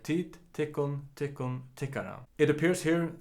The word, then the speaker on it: tykkum: And the plural is tit, goes like tit, tikkun, tikkun, tikkara. It appears here that the dative has taken over the accusative, so all the accusative final m's are pronounced n as well.